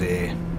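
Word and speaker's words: Ayr: we track down towards air air spelt with a y if it was spelt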